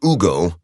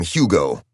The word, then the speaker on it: Hugo: his name was Hugo introducing himself he pronounced it Ugo but everyone else Americanized it and called him Hugo Hugo had started calling